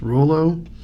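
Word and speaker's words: Rouleau: I think it's pronounced Rollo, which is a little bit out, little ways from Regina, which is a town in Saskatchewan.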